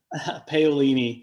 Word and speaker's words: Paolini: I've had it for the last hour and I mispronounced it. Paolini.